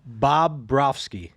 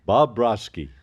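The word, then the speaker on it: Bobrovsky: Bob Brofsky. Bob Brofsky.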